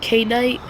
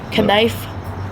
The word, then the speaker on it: knife: Do you say K-night? What? You say K-night? Knife? No, but I don't Yeah, then why do you... K is silent, the I is not silent.